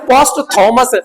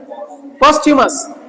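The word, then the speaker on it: posthumous: खूब आपने पढ़ा होगा, लोग कहते हैं पोस्ट थॉमस, था बोलते हैं सर आपका। इसका रियल प्रोनाउंसिएशन क्या है आपका, ये देखो ये क्या है आपका, पोस्ट्यूमस। बोलो, ये था नहीं पढ़ा जाता, प्रोनाउंसिएट नहीं किया था, पोस्ट्यूमस।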